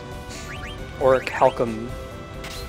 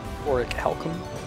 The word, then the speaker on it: Orichalcum: Orichalcum, which took me a long time to... I think that's the way you're supposed to pronounce it. Orichalcum.